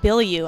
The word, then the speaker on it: Bilyeu: Hey guys, it is Lisa Lewolt, and I'm here with the amazing Tom Bilyeu. I pronounced it right this time, right?